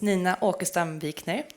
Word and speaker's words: Nina Åkestam Wikner: My name is Nina Åkestam Wikner, pronounced in Swedish, and I am the head of strategy at NordDB.